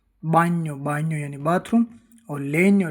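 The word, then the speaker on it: bagno: जैसे बी ए जी एन ओ बा्यो।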